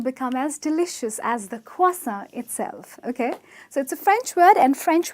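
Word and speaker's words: croissant: would say it's a crossing or a cross on but it's actually a cross on ok so the r is silent there's an invisible w that appears in the pronunciation it's closer ok you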